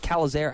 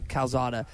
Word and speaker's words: Calzada: was going to be and yeah is it callazar how do you say that exactly calzada with him and haynes keene i think a